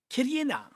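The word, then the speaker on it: きれいな: Beautiful in Japanese. Kirei-na. Kirei-na. That's right. Now I'm going to say Kirena. If the price moves according to our plan, Kirena. Is that how you say it? Kirena. Okay, that sounds good. That sounds about it.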